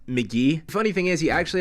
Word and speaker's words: Mk.gee: when I learned that his artist name is actually pronounced McGee funny thing is he